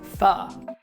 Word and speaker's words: pho: how to eat pho, or how you should say it, pho. Pho. If you're having a hard time remembering that, I don't blame you. It's spelled P-H-O, and we're actually using an English pronunciation of a word that's in Vietnamese that I'm not going to pronounce properly either because I've never spoken Vietnamese.